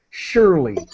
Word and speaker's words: surely: to make sound and the pronunciation of surely really it has an sh sound it begins with an sh sound surely okay great and what